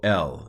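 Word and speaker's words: אל: So El is how this is pronounced.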